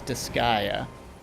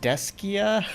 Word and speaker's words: Disgaea: I was like, I'm pretty sure it's Disgaea. What was he saying? Deskia? Something like that? Like Deskai? I don't remember what he said. I was just like, I'm pretty sure that's not accurate.